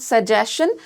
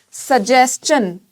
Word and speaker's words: suggestion: रहा है S-T-I-O-N से, then you are not going to produce shun sound, then you are going to produce chun sound.